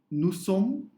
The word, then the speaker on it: nous sommes: Nous sommes, because again no liaison, so nous sommes, again we don't pronounce S.